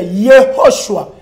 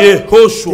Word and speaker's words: Yehoshua: Non, il faut bien prononcer Yehoshua. Aspiration. Ho, Yehoshua.